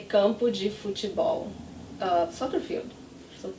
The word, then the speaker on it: campo: So here the M is at the end of a syllable, not at the end of a word, but it's the same thing. I don't close my lips, it's the same sound.